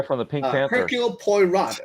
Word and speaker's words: Poirot: Hercule Poirot. It's spelled Poirot. Hercule Poirot. Yeah, I'm pretty sure it's French. French. So the T would be silent.